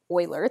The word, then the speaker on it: Euler: We pronounce Euler as Euler, the way I just said it, not Euler. Please don't say Euler.